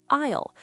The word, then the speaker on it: aisle: It is spelled with an A, but it sounds like the word aisle.